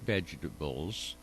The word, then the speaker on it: vegetables: But they were the first grower in the United States to offer grafted vegetables. I didn't realize that had 4 syllables.